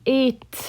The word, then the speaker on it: est: Il est américain, and I'll pronounce that T.